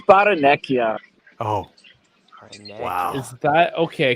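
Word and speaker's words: Barrenechea: Dash, it's Baranekia. Oh, wow. Is that okay? Because we've heard it pronounced every other way.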